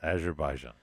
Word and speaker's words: Azerbaijan: John I was closed I forgot one of the syllables Azerbaijan Azerbaijan yeah one of my